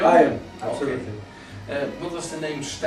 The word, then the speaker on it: Aion: Is the name, do I pronounce it right? Yeah, Aion? Aion, absolutely.